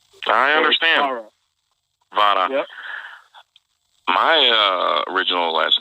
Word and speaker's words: Vara: Well, really pronounce it Vara. You gotta. It's a Spanish. Vara. Yeah, Vara. You said it perfect. Not many people could do that. It's almost like you gotta make like a T sound almost with the R. Yeah, you gotta roll your R. I speak Greek. You gotta. There you go. There you go. You gotta roll the R.